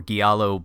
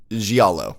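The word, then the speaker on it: giallo: from schlocky B movies a Resident Evil or gualo blood soaked Screamfest like Clock Tower I think I still pronounced it wrong you did you asked for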